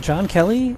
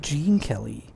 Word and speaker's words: Gene Kelly: Wait, John Kelly? It's Gene Kelly. I thought it was pronounced Jean, like Jean-Luc Picard. Well, it's spelled Gene.